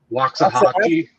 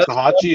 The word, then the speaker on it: Waxahachie: And he just played this week against, I actually don't know how to pronounce this team's name, Waxahachie. Yeah, Waxahachie, is that how it's pronounced?